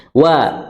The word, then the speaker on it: و: Wal mursalati urfa, ya, wa, dan jangan dibaca apa? Wo, tapi wa.